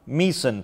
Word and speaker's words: Mỹ Sơn: one so of I'll, the most I'll correct my pronunciation. In Quảng Nam province. Mỹ Sơn.